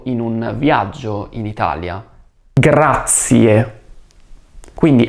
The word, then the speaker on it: grazie: Grazie. Quindi attenzione alla pronuncia della lettera R e non dimenticare di pronunciare la E finale. Grazie.